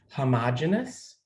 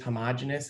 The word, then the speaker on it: homogeneous: heard this word before you might have heard other people say homogeneous homogeneous homogenous it's the you know different pronunciations in science the word homo means